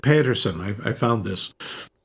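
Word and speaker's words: Pettersen: Or Pedersen. They pronounce it Petersen.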